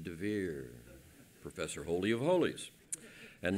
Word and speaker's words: Dever: Did you notice that in Professor Assmann's fifth plague, in Hebrew it's dever? In Israel, I add a yud and pronounce it devir, Professor Holy of Holies.